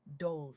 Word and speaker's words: Dolce: Pronounced dolce say like sweet softness whispered in French.